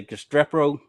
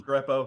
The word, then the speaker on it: Restrepo: So and so I want to say Gestrepo. I think I mispronounced his name. Restrepo, yeah.